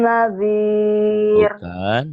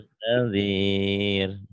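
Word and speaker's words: نذير: Alam yatikum nazir. Bukan. Coba dilihat baik-baik. Bacanya gimana? Alam yatikum nazir. Alam ya'tikum nadhir.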